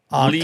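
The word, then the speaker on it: Lei: It's a lot of anti-CCP Lee's content. Real Talk or Lay's Real Talk? Yeah, I think it's Lee, L-E-I.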